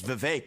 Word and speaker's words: Vivek: open up I say my name's Vivek it rhymes with cake it ain't about thee